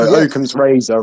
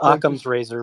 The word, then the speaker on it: Occam's razor: need to propose them through governance anyway so Logan's razor really comes into this in a nutshell yeah yeah but it's pronounced Occam's razor by the way dyslexic I read things backwards